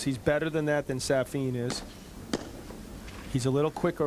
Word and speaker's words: Safin: I'll tell you, that first point when Safin gave him, now that we've had to go to his coach to find out that his pronunciation is Safin.